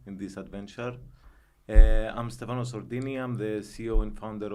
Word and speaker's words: Sordini: Have I pronounced the surname correctly? Sordini. Sordini. Sordini, Yes, Italian.